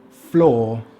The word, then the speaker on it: floor: The other way the sound could be spelt is with double o such as: floor floor.